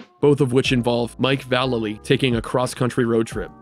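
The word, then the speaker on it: Vallely: the wilderness with mike valailly and yes that's how you pronounce it i wouldn't dare say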